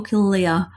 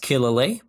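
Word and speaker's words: Killalea: it killer lee or kill leah well i won't say i'm an expert locally it's pronounced killer lee but hey the locals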